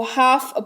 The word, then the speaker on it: half: L का उच्चारण जैसे HALF, इसको हाल्फ नहीं, इसको हाफ पढ़ते हैं।